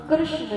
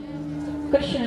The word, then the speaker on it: कृष्ण: कि देवी इसका नाम कृष्ण है कृष्ण ना नहीं है न न कई लोग गलत उच्चारण करते हैं कृषण और इसका भाग्य क्या